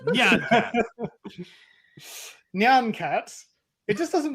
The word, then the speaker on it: Nyan Cat: It's not Cyan Cat. It's Nyan Cat.